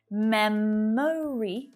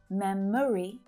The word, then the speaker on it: memory: So like favorite, both types of pronunciation are common. Memory, with that little extra schwa syllable in the middle. Memory or memory.